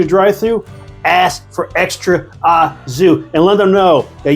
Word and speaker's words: au jus: If you're going there, especially if you're going through the drive-thru, ask for extra azu and let them know that you know how to pronounce it correctly, thanks to Joey Starr.